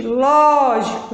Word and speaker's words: lógico: Olha aí, gente, lógico. Então, vou dar um exemplo aqui para você. Lógico. Tem quantas sílabas? 3. Qual é a sílaba forte? Ló.